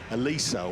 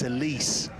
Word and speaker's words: Elise: on ladies fives, you you keep calling uh I think it was his partner, you know, uh Alisa or something like that. He said it's like the car the Lotus. So it's Elise, right?